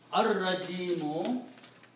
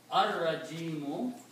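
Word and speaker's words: الرَّجِيمُ: Lam becomes silent, but now Ra has to be pronounced twice. So you have to pronounce Ar-Rajimu. Ar-Rajimu, the rejected one. Ar-Rajimu, the rejected one.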